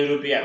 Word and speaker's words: European: He is a European কারণ your মতো উচ্চারণ হলে এর না বসে বসবে এ।